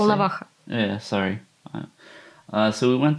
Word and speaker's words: Volnovakha: So we went to Valhalla, to the hospital. Is that how you say it? Volnovakha.